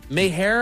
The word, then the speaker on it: Meijer: Mayher, I believe is how you say that.